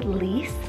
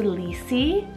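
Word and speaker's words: Lece: We have Lise, spelled L-E-C-E, Lise, or you could do Lisi. I feel like you can really do both for this particular spelling, and it's a Jewish rooted name meaning cheerful.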